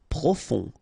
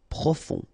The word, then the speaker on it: profond: aigu et décé décorer profond final not pronounced o n on profond individuel spectaculaire ok fin